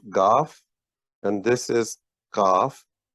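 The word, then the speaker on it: گاف: uh and then the The Sibling of calf is called goth and you have those twos two roofs on top this is cough g h a a f Goff and this is kaf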